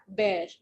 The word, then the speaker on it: bear: हम ए को साइलेंट कर रहे हैं तो BER, बेयर.